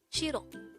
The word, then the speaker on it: 싫어: hangover word number 179 this is pronounced as a two-syllable word the first syllable is the second syllable is o pronounce it with me shiro the korean word shiro is used to say